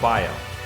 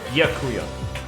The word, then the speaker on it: Byakuya: It's Bya or Baya? No, Bya. It's right. Byakuya. Byakuya. Yeah, right?